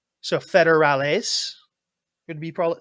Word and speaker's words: federales: It's a subtle like they like in the proper dialect you pronounce it with a bit more of an S sound at the end, whereas we are lazy and just cut it out and don't do that.